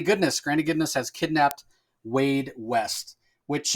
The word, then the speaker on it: Waid: I love the fact that Jeremy Adams named him Waid, and it's spelled in the traditional way that you would spell the first name Wade for a boy, W-A-D-E.